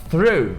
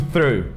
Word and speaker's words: through: Por que é tão difícil o through? Primeiro que tem aquele GH no final, que não tem som nenhum, ele simplesmente é mudo.